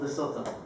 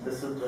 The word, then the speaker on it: Lesotho: They're from Lesotho, or Lesotho, I think that's how you're supposed to pronounce it.